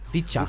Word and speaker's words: VCHA: V as in V and cha. VCHA.